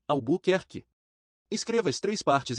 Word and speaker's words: Albuquerque: reúnem no todo original a maneira de aprender a pronunciar a buquer que é quebrá-la em três fragmentos menores assim a bu ker que Escreva as três